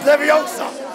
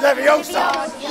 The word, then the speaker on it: Leviosa: Wingardium Leviosa don't say it wrong it's Leviosa not Leviosa you do it then